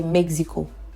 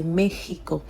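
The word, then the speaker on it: México: We do have some exceptions like Mexico. They do not say Mexico. Okay. For that they say it in a different way. They say it as if the X is her sound. They will use the her sound for the X. So in that case they will say Mexico.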